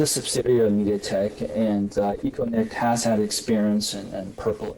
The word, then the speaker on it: Econet: And sorry if I mispronounced the company name. No, it's good. Yeah, Econet is a very green name, Econet.